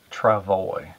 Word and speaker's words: travois: this word right here traval way okay it's pronounced trevally okay now what that is as years ago